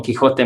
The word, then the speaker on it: Quixote: grande aquí es don quijote muchas personas quizás se preguntan por qué sale con xy se pronuncia con con jota y la razón es